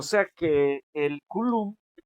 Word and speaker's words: Coulomb: Bueno, esto también se puede españolizar, le podemos decir Colombia, pero en el idioma original es Coulomb. Se escribe Coulomb y se lee Coulomb, ¿no?